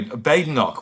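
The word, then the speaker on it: Badenoch: with wolf of B bade knock we we're told it's pronounced now aren't we hasn't kmy bade knock told us there's no bad in in bade knock anyway whatever it is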